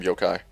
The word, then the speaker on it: Yokai: echo slam or Yokai I'm pronouncing it Yoku the entire time Yokai how moving around resolution